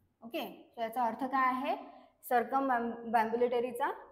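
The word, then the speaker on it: circumambulatory: next word आहे सरकमबरीबुलेटरी okay so काय आहे प्रोन्सशन सर्कमबुलेटरी अस याच प्रोन्सिएशन आहे आणि याची करेक्ट स्पेलिंग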